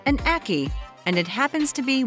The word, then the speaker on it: ackee: It rhymes with khaki. It's called an ackee, and it happens to be one of the deadliest fruits in the world.